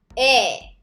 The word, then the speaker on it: 의: So when 의 is used as a possessive particle like this, you pronounce it like it's different. 에.